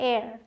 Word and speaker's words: heir: होता है उत्तराधिकारी, तो इसे आप हेयर नहीं बोलते। मैं जब आपको अभी मिसप्रोनाउंस्ड वर्ड्स बताऊंगी उनमें भी ये सारी चीज़ें आएंगी। इसे हेयर नहीं, इसे एक्चुअल में पढ़ा जाता है एयर, ठीक है। तो यहाँ भी ए का साउंड आता है एयर, तो इसलिए एन का यूज़ होता है।